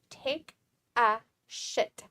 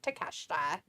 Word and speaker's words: Takeshita: And Pico's like, say it like it's spelled, D. Take a shit. I know, Travis says it like that all the time, but I was trying to be nice and saying his name correctly of Takeshita.